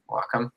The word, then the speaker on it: Wacom: Wacom. Wacom. Well, because the WA is short for Washington.